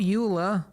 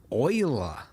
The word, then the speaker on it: Euler: to add Shift A, Utilities, Rotation, Rotate, not Euler, Euler. Yes, I know. They went with the weird pronunciation.